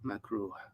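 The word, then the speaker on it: makruh: this macro macro is spelled um i would spell it m a k r u h macro from kariha yak rahu kara hatan and that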